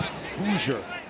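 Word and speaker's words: Hauser: That's right, it's pronounced Hoosier.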